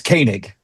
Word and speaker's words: Koenig: right, but Pastor, is it Koig or Kanig? It's Kanig.